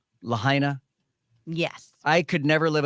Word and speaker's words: Lahaina: of that guy hey make sure you're pronouncing it Lahaina not Lahaina okay am I saying it wrong Lahaina yes I could never